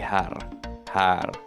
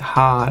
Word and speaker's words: här: You keep pronouncing it har instead of här.